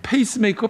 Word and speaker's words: 페이스메이커: 페이스메이커스 페이스메이커 페이스메이커 P 아니겠습니까? 아, 자꾸 F로 발음을 해 가지고 잘해야 됩니다.